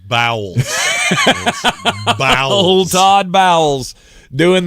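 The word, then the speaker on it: Bowles: name again Todd BS it's pronounced bowels BS old Todd bowels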